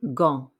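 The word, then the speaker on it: gants: sound some gloves de gong remember we don't pronounce the t or the s at the end of d all right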